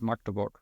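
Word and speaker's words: Magdeburg: Matt, it's called I don't know how you say it in English, but in German it's called Maktoborg. It's like Yes.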